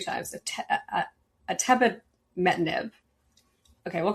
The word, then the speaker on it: atebimetinib: They presented data showing that, and I do know how to say this one because I've talked to the CEO 2 times, atebimetinib.